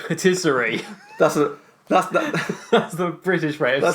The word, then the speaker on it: patisserie: And patisserie, like Patisserie Valerie.